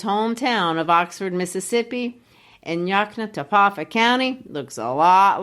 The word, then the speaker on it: Yoknapatawpha: self-contained community he called Yoknapatawpha County, Mississippi. Let me congratulate you on your pronunciation of that. Just to clarify, Yoknapatawpha County, Mississippi, with Jefferson as its county seat, is not a real place.